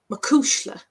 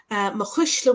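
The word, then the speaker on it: mo chuisle: songs in ireland and you might hear it to pronounce there is makushila mahishla would be the irish pronunciation which you can find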